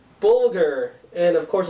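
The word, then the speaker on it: bulgur: Dudu Bulghur. Sounds kind of vulgar, but it's not.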